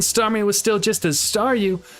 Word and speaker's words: Staryu: was still just as Staryu, I could never pronounce its name right. It always ended up sounding like saw you.